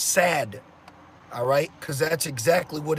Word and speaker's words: SAD: I can add because the standard American diet acronym is pronounced sad alright cuz that's exactly